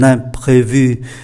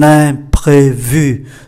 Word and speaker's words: imprévu: Je suis vraiment désolé, mais j'ai un imprévu.